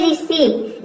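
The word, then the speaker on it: receive: देखिए यहां पे है रिसीव इसमें ई आई एक साथ आया है आर ई का हो जाएगा री और सी ई का हो जाएगा सी सी ई और ई आई का हो जाएगा यहां पे देखिए सीई आई एक साथ आया है तो ये हो जाएगा सी और वी का हो जाएगा व इसमें देखिए वर्ड के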